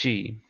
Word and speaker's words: qi: known as key uh rather chi pronounced chi it could qi or ch hi it's interchangeable I think maybe in